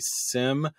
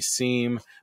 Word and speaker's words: SIEM: different ways I've seen generally in the cyber security circles it's usually called a Sim uh rather than a seam but I've heard it